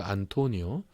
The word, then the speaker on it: 안토니우스: 안토니우스라고도 발음하는 그 안토니오 그리고 레피두스 이렇게 옥타비아누스, 안토니우스, 그리고 레피두스 이 세 사람의 3두 정치 체제가 시작됩니다.